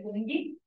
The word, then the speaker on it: Fungi: Reino Fungi, ou Fungi, na verdade a pronúncia é Fungi, que é dos fungos, né?